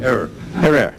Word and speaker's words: Herer: Shot by a cop Jack hr have I pronounced it correctly Jack her Ok Jack her Jack Jack Jack Jack